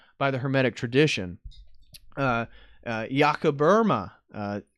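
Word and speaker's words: Jakob Böhme: tradition uh yakaburma uh looks like jacob bohemma so it's b-o-e-h-m-e but from all the germans i've heard say his name there's an umlaut over the o and it's iaco burma is from my understanding but uh jakoba is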